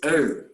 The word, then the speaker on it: earth: of our planet is earth you pronounce with that age in front heard there is no it's earth remember there was a famous